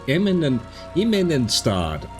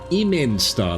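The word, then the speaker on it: Immenstaad: Immenstad, I'm putting an extra syllable in there, I don't think I need to.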